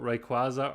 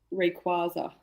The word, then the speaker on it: Rayquaza: We got a couple of people asking for more pronunciations. Right, someone's asking about Rayquaza or Rayquaza. I've always said Rayquaza.